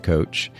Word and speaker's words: Koetsch: scene here because I am here with coach and I'm pronouncing your last name correctly yes okay we